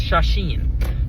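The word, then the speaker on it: 写真: But I do know that in Japanese it's shasheen.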